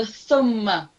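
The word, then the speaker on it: ثم: So tongue out, touching upper teeth, and now this time just say it slowly. So the thumma, thumma. Thumma.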